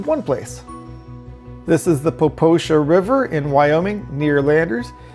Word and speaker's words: Popo Agie: Now, the Poposha River is actually written as though it were Popo Aggie, but it's pronounced Poposha.